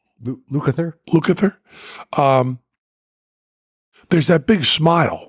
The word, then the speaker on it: Lukather: When Eddie Van Halen practiced a lot, or Steve Lukather, I didn't say his name right, did I? Lukather?